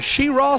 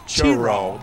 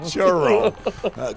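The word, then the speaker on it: Cheraw: The pride of Sheraw, South Carolina. You got to say it right, Rich. It's Churaw. Churaw.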